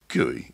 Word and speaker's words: GUI: Guey is spelled GUI and stands for graphical user interface.